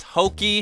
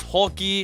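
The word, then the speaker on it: Houki: Our protagonist pronouncing the main heroine's name as Hoki when her name is Holky.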